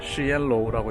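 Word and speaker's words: 实验楼: 시엔로우라고 있고요. 저기에는 여러가지 시설들이 있죠. 예를 들면 컴퓨터실이라든지 아니면은 이제 어학 강의들을 하는 랩실이라든지 이런 것들이 저 그 실험로 시엔로우에 있다고 보시면 됩니다.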